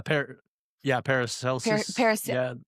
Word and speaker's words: Paracelsus: Alchemy: the singular expression astrum, star, is a Paracelsius. Is that how you say his name? He was the Probably, yeah. Paracelsus.